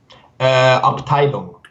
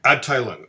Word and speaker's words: Abteilung: As someone who does not speak German, how do we pronounce Abteilung? Abteilung. Abteilung.